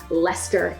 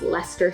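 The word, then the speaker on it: Leicester: So, some common ones, leester. It's Lester Square, it's Greenwich, it's Suffic. Those are names that are difficult to pronounce.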